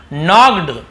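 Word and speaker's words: knocked: नॉक्ड, नॉक्ड, के silent होता है ना, नॉक्ड नहीं पढ़ेंगे, के को हम यहाँ पे नहीं पढ़ते हैं, ये साइलेंट लेटर होता है, लेकिन लिखते जरूर है।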